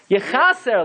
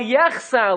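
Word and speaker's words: יחסר: For example, Tamid lo chasar lanu, it should say V'al yechaser lanu. But we say V'al yechsar lanu. Because the gematria of the nekudos of yechsar is lechem. So we intentionally mispronounce the word because of the consideration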